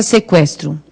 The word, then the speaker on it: sequestro: Na palavra sequestro, o U tem som? Tem, né? Porque a gente não fala sequestro.